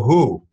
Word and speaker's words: HU: is not the w.h.o who uh who of the old days this is uh the who which is spelled hu it's a mongolian uh